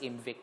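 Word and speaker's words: IMViC: Ang I, kay murag ibutang na siya para murag ma-pronounce mo siya as MVIC.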